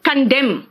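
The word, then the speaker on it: condemn: straight लग रहा है कंडेम बेटा एन साइलेंट है यहां पे कमेंड एंड कमेंट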